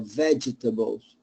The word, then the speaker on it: vegetables: you say vegetables or vegetables yeah get rid of the yeah so it's vegetables vegetables uh it's a Veges vegetables vegetables vegetables no that's that's you're adding a syllable we don't need that so it's veg veg